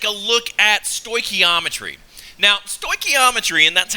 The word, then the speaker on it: stoichiometry: Now, stoichiometry, and that's how I pronounce this funny-looking word that's on the screen, is really not as bad as it seems.